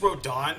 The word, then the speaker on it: Rodin: So his name is Rodan, but it's spelled Rodin.